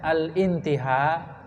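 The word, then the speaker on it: الانتهاء: Indal intiha atau indal intiha, itu bacanya al intiha karena ada sebelumnya. Nah, itu kan dari kata intaha, yang tahi intihaan, hamzahnya hamzah wasol.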